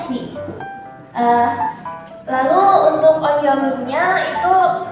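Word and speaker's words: 日: Dia berdiri sendiri maka dia dibacanya hi. Lalu untuk onyominya itu dibacanya bisa nichi atau mi.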